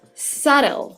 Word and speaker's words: subtle: It is written with a B, so make sure that when you're writing, you actually spell it in the right way, but the way you pronounce it is subtle.